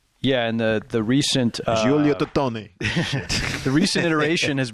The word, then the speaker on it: Giulio: So Giulio Tononi, maybe? Giulio? Okay. G-I? Giulio. There you go. And there was a recent theory proposed. Giulio Totoni, I would say. Yeah, and the recent Giulio Totoni.